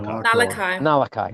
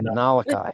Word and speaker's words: Nullaki: Nullaki. Nullaki.